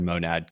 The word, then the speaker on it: Monad: seriously looking at um monad or monad Kobe's like your name rhymes with gonad like whatever and you